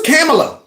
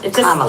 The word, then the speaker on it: Kamala: name for me please it's Kamala yeah just think of like a Kama and adala okay and then try